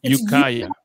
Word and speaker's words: Ukiah: Ukiah? Mm-hmm. That's where you live, right? Ukiah, California? Is that how you pronounce it? It's Ukiah. It's haiku spelled backwards.